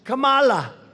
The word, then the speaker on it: Kamala: No, my name is Kamala, like comma.